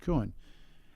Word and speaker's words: Kuehn: They're in Berlin, and the last name is it's Kuehn, I think, pronounced Kuhn.